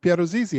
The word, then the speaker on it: Piero Zizzi: the world of sports and we're here with pierrot zizi how are you hi hi matt good to